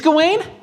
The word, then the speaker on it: Gawain: It is Gawain? Ha! What? All right. I looked up the pronunciation.